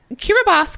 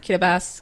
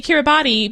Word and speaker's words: Kiribati: I'm assuming the because Kira boss comes from the native peoples pronunciation of Gilberts which I can kind of get okay Kida bass good lurtz same way